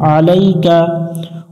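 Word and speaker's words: عَلَيْكَ: আলাইকা বারবার বলবো আমরা আইনটা একটু বলা চেপে উচ্চারণ করবো আলাইকা ওয়ানাতায়ালু আলাইকা এগুলোতে কিন্তু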